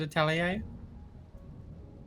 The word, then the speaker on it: atelier: makes Like an the prettiest honest to God atelier? What? Kelly? Like an honest to God atelier? Oh yeah. Yeah. Atelier? I've only ever seen the word written down. Yeah. Oh, absolutely. A tiller? I've always said atelier.